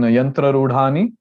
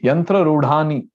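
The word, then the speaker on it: yantrārūḍhāni: here below r and there's a dot below d here in yantra rudhani so it is not the it becomes da right yantra rudhani that's how we pronounce it a dot below t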